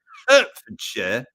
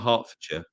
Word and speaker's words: Hertfordshire: Hertfordshire. You say it like that, not Hertfordshire. Or if you're from London, you go Hertfordshire. You don't pronounce your H's.